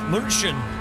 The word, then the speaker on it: München: Yeah, München. Why are so many German places pronounced in Germany completely different to how British people say them?